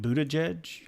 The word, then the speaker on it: Buttigieg: Pete Buttigieg.